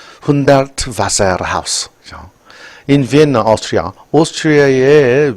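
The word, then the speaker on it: Hundertwasser: 훈데르트, 이거 V 발음입니다. 바세르. 훈데르트 바세르 하우스.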